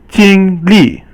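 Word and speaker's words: 经历: Now there's another word in Chinese called 经历. But 历 is fourth tone, and it means to experience something.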